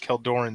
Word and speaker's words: Keldoran: I always pronounce it Keldoran, but I mean, do you like Seldorn better? Seldor or Keldor? Keldor. Then prepare to taste Keldoran steel.